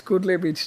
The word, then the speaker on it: Kudle: We used It's to in like the cuddle. same vibe also, but yeah, Yeah, it's Kudle Beach, just for pronunciation Nazis, it's Kudle Beach.